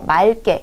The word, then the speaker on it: 맑게: 중에 하나만 남기는 거거든요 그렇기 때문에 의왕 이면 뒤에 기억이 남는 경우에는 기억이 두 번 겹치는 것 보다 앞에 리뷰를 남겨 주고 맑게 이렇게 해 주는 게 더 효율적이다